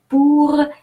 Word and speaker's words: pour: Pour gagner, il faut accepter de perdre. Now, I'm going to give you the rules of pronunciation that you can find in each word. So, pour. O-U is pronounced ou.